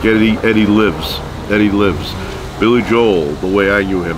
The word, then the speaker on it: Billy Joel: once again thank you Billy Joel I pronounced the L um I overemphasize it because a lot of times when I say it fast sounds like I'm saying Billy Joe and you know Billy